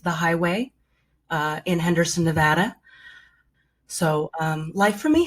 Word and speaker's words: Nevada: thank you by the way for saying it nevada i really appreciate the correct pronunciation there of course tell us a little